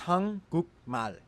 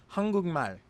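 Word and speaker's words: 한국말: It is hang guk mal. But because the giot in guk meets the nasal character mium, the giot turns into the character iung, so the word is pronounced hangugmal.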